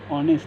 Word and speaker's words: honest: See here, honest and honest boy. This word itself starts with H alphabet, but its pronunciation starts with A.